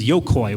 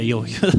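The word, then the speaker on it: よゐこ: Their name was Yokoi, which translates to child... Yoiko? Yeah, Yoiko. I'm saying it wrong.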